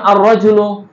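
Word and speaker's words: الرجل: তোমরা দেখতে পাচ্ছ যেমন আর রাজুলু আমি লামটা উচ্চারণ করিনি আল মুসলিম আল জান্নাতু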